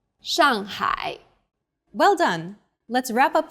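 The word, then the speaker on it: 上海: The pronunciation for the famous city Shanghai is 上海， the first syllable here is made of an initial 诗， and a final 昂， and a fourth falling tone.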